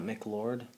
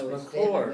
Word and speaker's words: McCord: Are you sure it's not McLord? No, it's McCord.